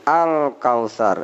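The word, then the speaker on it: الكوثر: Kemudian al-kausar, ini disatukan lam alif, bacanya terang sehingga a'toinakal kausar, ya. Ada sa, ini bukan sya, bukan sin tapi sa, kal kausar, ya.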